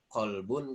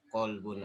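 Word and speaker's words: قَلْب: Arab qolbun carbon Deda qolbun artinya hati kalbun Anjing itu kita tahu perbedaannya dengan mendengar oh ini kalbun ini qolbun dalam pengucapannya dengan kita Nah tadi bisa membedakan antara kalbun dengan qolbun dan banyak contoh yang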